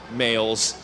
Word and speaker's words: Mayle: He's one of those M-A-Y-L-E males. I know Maleys spelled the same way.